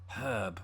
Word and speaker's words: herb: you heard just there I pronounced it with an H at the beginning because there's an H there that's probably something you